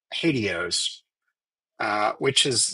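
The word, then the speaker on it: HATEOAS: Um sometimes when you pronounce this term it sounds a little bit like hados uh which is like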